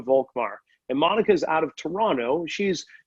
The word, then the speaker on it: Toronto: of all i pronounce toronto the way that you should pronounce it without the t at the end is that correct what